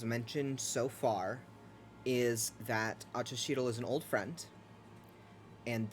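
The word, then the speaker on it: Axochitle: about him the witch's name is achashidel which is spelled a-x-o-c-h-i-t-l-e and probably about all queer has mentioned so far is that acha sheedle is an old friend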